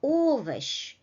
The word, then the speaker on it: овощ: So, сумка, масло, овощ. The first syllable is stressed.